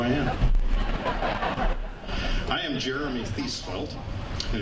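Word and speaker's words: Thiesfeldt: am Jeremy thel and if you see my name in writing and wonder how do you pronounce that name just think of seat belt my my wife teaches little kids and that's how she helps the kids remember how to pronounce her name so Jeremy thel and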